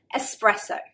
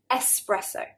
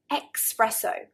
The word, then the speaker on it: espresso: Espresso. Espresso. Now Italians, this is their word, so they usually get it right. But English people often add an X. Espresso. Espresso. I think they're getting confused between express, meaning fast, quickly, and espresso.